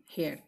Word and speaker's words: heir: হ্যাঁ look my dear students, হেয়ার ওয়ার্ডটি, হ্যাঁ HEIR উচ্চারণ হেয়ার একই, কিন্তু বানানোর ক্ষেত্রে অবশ্যই বা স্পেলিংয়ে তোমরা অবশ্যই সতর্ক থাকবে, এখানে যদি HE এর জায়গায় এ হয়ে যায় তাহলে কিন্তু এটা চুল হয়ে যাবে।